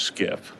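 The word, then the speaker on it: SCIF: cert complying with certain facility standards known as skip sensitive compartment information facility it's pronounced skip this term originates from the Department of Defense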